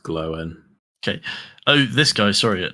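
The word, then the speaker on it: Glóin: okay Owen good uh GL um again it's pronounced glowen okay oh this guy sorry we I thought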